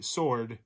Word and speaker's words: sword: number in the alphabet the silent letter in sword uh would be sword it's the w is what number in